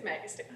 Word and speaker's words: Magistad: and we have Caitlyn magistad is that how you pronounce it it's magistad magistad thank you and uh